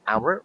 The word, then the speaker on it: hour: hour is silent.